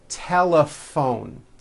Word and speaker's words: telephone: that word laughs telephone notice the pH combination in that word is also pronounced as an F telephone it's the same thing